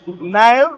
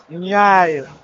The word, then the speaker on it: Nyao: It's written as, it's read as Nile, but it's actually pronounced as Nyai. Okay. In their local accent.